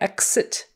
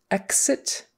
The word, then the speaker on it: exit: It's not exit. Exit. We don't usually say it with a KS. Exit. We usually say it with more of a GZ.